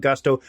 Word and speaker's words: Gusto: Gusto now what is Gusto well it rhymes with Musto or rusto as in let's do